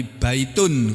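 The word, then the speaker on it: بيت: Bentuk kata jamak dari baitun. Kalau satu baitun tulisannya baitun membacanya bait.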